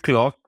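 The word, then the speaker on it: Klok: How do you pronounce this? Is it Clock or Yeah, did I clock say it is right?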